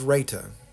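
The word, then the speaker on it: raita: more of the processed sugar variety this is Raa R AI t a I believe is how it's spelled um this is yogurt and as I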